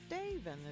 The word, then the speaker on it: Daven: Daven is how you say that.